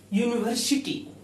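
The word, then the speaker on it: university: लेकिन इसका उच्चारण जो है होता है साउंड प्रोनंसिएशन जो होता है वह यू यू नी व शी टी तो अब यहां हम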